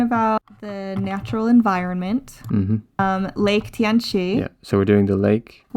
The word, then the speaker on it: Tianchi: Yeah, it's Chunji in Korean and Tianchi in Chinese.